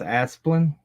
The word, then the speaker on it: Asplin: It's pronounced Asplin. I say Asplin.